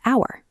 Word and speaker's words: hour: such as hat and hour. In the word hat, the H is sounded out, so we use a. But in hour, the H is silent.